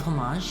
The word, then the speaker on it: homage: they're they're pretty good that is one of the standard American pronunciations of of homage yes well and I'm